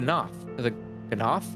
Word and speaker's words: Gnath: the disposition of the Gnath. Let us survey the approach to the towers and see if the path is clear. Yeah, it's been pronounced silent G, presumably, up until this point.